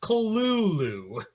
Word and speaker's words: Cthulhu: According to Lovecraft, it should be pronounced Cthulhu.